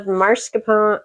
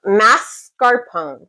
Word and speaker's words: mascarpone: I've got 8 oz of marscapone mascarpone. Sorry, I was saying it wrong.